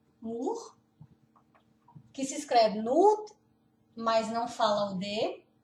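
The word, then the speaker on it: Nord: Eu só vou falar, pronunciar mais uma vez. Nur, West, Sur, Ost, Ost, Ost.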